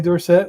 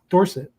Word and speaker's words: Dorsett: Tony Dorsett was Dorset, and he got in a Heisman race and changed to Dorset.